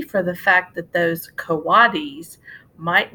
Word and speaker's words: coatis: pigs or raccoony dogs these are coatis mrs. Brisbane said reading from the letter pronounced CO ah the coatis looks weird